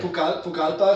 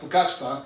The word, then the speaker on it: Pucallpa: Pucallpa. It's actually pronounced Pucachpa.